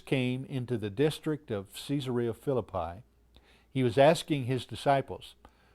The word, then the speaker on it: Caesarea Philippi: I now want to take you into Israel and back across the Jordan River to a place that they pronounce Caesarea Philippi.